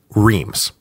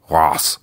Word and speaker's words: Reims: say it like this, Reims. Don't at me about the pronunciation. I know it's like Ross or something, but I can't make my mouth say it, so don't make me say it.